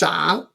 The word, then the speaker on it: 長: Zhang. Another pronouncing of this character is zhang, longer.